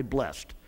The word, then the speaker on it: blessed: Now some want to say blessed and some want to say blessed. It's spelled the same word. But it's going to be, depends on how you're using it in the content and in the context, all right?